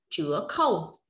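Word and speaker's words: 折扣: Chiết khấu sẽ đọc là chứa khâu, chiết khấu.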